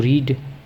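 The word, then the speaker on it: read: टू रीड रीड रेड रेड लेकिन spelling तीनों की सेम होती है। आर ई ए डी आर ई ए डी आर इ ए डी रीड रेड रेड टू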